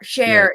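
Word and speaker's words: Scher: guy his name was s-c-h-e-r how do you pronounce that Jackson s-c-h-e-r share it was sure that was his last name share share right okay so this again instead of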